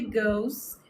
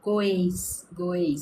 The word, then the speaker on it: goes: Quando tem o E e o S, a pessoa quer fazer no som goes, como se estivesse em português. Mas não. Sabe gol de futebol?